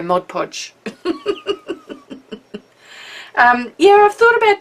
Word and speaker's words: Mod Podge: you to P well she told me I was saying it wrong uh cuz it's just easy for me to go Modge Podge now I have to think about it and go Mod Podge um yeah I've thought